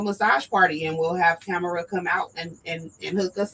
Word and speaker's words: Tamara: I told her when I met her, I wanted to get her name right because I know it's 3 ways to pronounce that. It's Tamara, and Tamara. So her name is Tamara, and she will be with us next week.